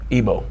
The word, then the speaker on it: Igbo: or Yorubas, kind of how you want to pronounce it, and the Igbo tribe, which is us. And like, how do you pronounce your tribe? Igbo.